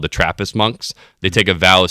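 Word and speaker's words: Munq: iterations, we settled on Monk. So the name itself is spelled M-U-N-Q, and it's I would say it is renditioned after the monks, the M-O-N-Ks of real life.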